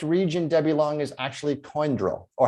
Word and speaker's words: Condrieu: The correct region, Debbie Long, is actually Coindreau, or how would you like to pronounce it? Because Steve's got a much better French pronunciation than I do. Condrieu.